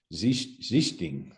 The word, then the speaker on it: Sichting: I mean, I've even asked Dirk Nowitzki, and I think he pronounced it more of a Z sound at the start. Sichting, I think, is how he kind of, but our family Americanized it, that's through the pronunciation.